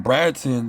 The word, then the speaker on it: Bratton: Like when I choose my name Bratton, you know what I'm saying? it rhymes with Satan or whatever, but with the B r a ta an you know that post that's like my magical name, Bratton.